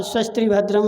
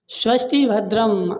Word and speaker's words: स्वस्ति भद्रम: स्वस्त्री भद्रम मतलब बोलो, स्वस्ति भद्रम, आपका कल्याण हो, हे जजमान आपका कल्याण हो, स्वस्ति भद्रम।